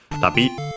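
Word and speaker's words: 旅: Okay, yeah, accented on the last syllable, so tabi was correct.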